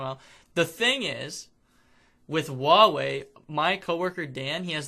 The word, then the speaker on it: Huawei: Yeah, Howie. Howie. It's Huawei. If you don't. Well, you call it. I don't know how to pronounce it anymore. It is Huawei. Everybody says it different. It's Huawei.